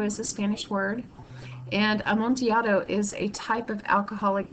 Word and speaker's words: Amontillado: and notice that it's the Double L is pronounced like a y as it is with like tortilla chip that's because am monato is a Spanish word and am monato is a type of